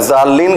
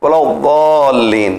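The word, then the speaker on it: الضالين: نہ دال ہے نہ زال ہے, اگر زالین کہیں گے تو وہ زے بن جائے گا. لہذا زے اور دال کے بیچ میں ایک پروننسیشن ہے, ایک تلفظ ہے, ولضالین ولضالین.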